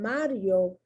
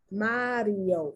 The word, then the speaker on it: Mario: Mario, in Mario, the I is pronounced weak. Mario, yo, like a Y.